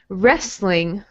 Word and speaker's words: wrestling: Wrestling. Wrestling. Yeah, so we don't say the T here, just wrestling.